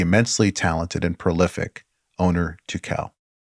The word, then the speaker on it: Tukel: many people pronounce it Turkel or Turkel. They think there's an R there, and it's Tukel. Tukel with the accent over the E. Yeah, Tukel.